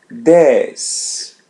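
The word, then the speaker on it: dez: This days Z is pronounced as S days.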